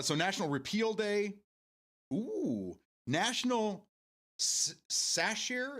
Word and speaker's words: Sacher: National Sacher. Is it sache? It's spelled satcher, but I I know it's not.